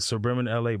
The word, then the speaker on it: SBRBN LA: and food, Scottie, I think, man, in the suburban LA brand, I just think that they are LA right now. And this is no diss to anybody, any other media. But for me personally, suburban LA, I'm saying it right?